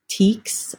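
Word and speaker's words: Tieks: Teeks, I think is how this is pronounced. It's T-I-E-K-S.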